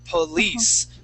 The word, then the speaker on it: police: So police, police officer. Officer. So class, this I makes an E sound. Police. All right. But this I makes a short I sound.